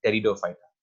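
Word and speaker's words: Pteridophyta: जो ये 4 divisions mentioned है नीचे, division साइलोटोफाइटा, division लाइकोपोडोफाइटा, division एक्विसिटोफाइटा and division टेरिडोफाइटा। इसमें पी साइलेंट है लास्ट वाली में।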